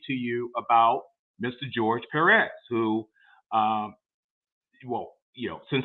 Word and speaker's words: Perez: George's last name is pronounced Perez. Perez. Not George Perez.